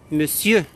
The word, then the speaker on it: monsieur: Mon comme me. On ne prononce pas mon, c'est me. Cieux, comme cieux. Monsieur.